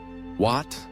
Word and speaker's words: Wat: Wat concludes with a short A and soft T, a delicate syllable that Western tongues often mishear.